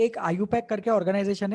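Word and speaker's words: IUPAC: होता है कि एक आईयू पैक करके ऑर्गेनाइजेशन है international union of pure and applied chemistry इसको प्रोनाउंस करते है आईयू पैक okay I यू पैक ऐसे प्रोनाउंस करते हैं इसको तो एक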